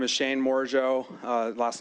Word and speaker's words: Morigeau: Um, my name is Shane Mojo. Uh, last name is spelled M O R I G- E AU.